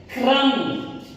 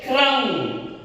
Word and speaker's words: क्रम: क्रम। देखिए ये आधा और ये पूरा उच्चारण हो रहा है, क्रम।